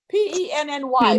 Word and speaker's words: penny: you got here yes because the why is the sound of a long e it's a vowel in this word because it's a two-syllable word that's why you get Penny long e if it was a one syllable word pry try try fly it would be a long I mean okay the